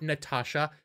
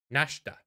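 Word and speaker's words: Nastasha: It's not Natasha. It's Nashta. It starts with an N.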